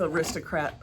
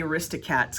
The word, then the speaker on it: Aristocrat: the nice thing with aristocrat a cat i keep saying it wrong i keep wanting to say arista cats because i have that disney movie thing in my head the aristocrat boxes have